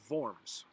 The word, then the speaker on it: Worms: the word worms but in german w's are pronounced like these and so it's the concordat of vorms it was named after the german town where